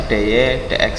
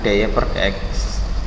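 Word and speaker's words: dy/dx: kalian temukan dy dx, ini bacanya dy dx ya, bukan dy per dx.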